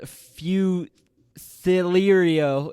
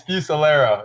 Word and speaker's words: Fusilero: the podcast today i have coach fusel fu celerio i say that again i've butchered it how do you pronounce it coach it's fucillero it's all you that's what it is i've